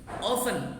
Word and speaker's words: often: Ya, kemudian usually, biasanya, generally, umumnya, often, sering, every, setiap. Jadi banyak. Ada always, selalu, ada usually, biasanya, ada generally, umumnya, ada often, sering. Often pakai F bacanya, T-nya tidak terbaca.